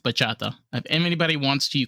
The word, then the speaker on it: bachata: So I think it's pronounced bachata.